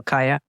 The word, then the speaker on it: Kaija: And the first time I met you, I actually called you Ka because your name is spelled with a J. And I felt it was such a beautiful way to spell Kaya that I wanted to accentuate it by mispronouncing your name.